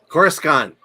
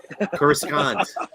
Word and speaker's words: Coruscant: Hey, Alan, how do you pronounce Coruscant? Coruscant. Coruscant.